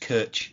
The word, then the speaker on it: Koch: I would like to think that I'm really hoping that a German pundit comes out and said no, it's actually properly pronounced Kirch in German, but we'll call him Koch for now, which is so over